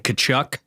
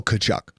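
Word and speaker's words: Tkachuk: Yeah, she had a hard time pronouncing Kachuk. We had to go over that a couple times. Yes. That's honestly, how do you think you would spell Kachuk? I mean, the T is silent, so it's pronounced how it's the T's is silent.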